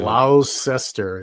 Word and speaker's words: Gloucester: Gloucester is how it's spelled, but it's Worcester.